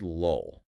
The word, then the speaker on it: lull: Say the word lull. The first L is a light L. You pronounce it at the front of your mouth, right behind your teeth.